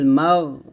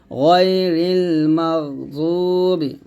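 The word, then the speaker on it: غير المغضوب: জবর মাগো হবে গাইরিল মাগ এখানে আমরা যে ভুলটা বলি অনেকে মাগ এরকম বলি তো এরকম বলা যাবে না মাগ কোন ধরনের শব্দ বের হবে না আওয়াজটা ধরে রাখতে হবে গাইরিল মাগদুবি দয়াও পেশ দু বা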